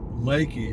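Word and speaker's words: Leakey: now it's spelled l-e-a-k-e-y looks like leaky but it's pronounced leki in this area and I I think I think you I think Google pronounces it leaky it's a it's a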